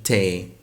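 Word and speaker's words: thé: تا بمعنى شاي تمام فهي برضو وضعت لتنطق مثل الايه في الانجلش فتبقى تا طيب انا بكتب النبره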